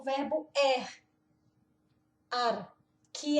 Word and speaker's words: er: O verbo é esse no infinitivo, mas o verbo no presente é er, que na verdade o é mais o r fica ar.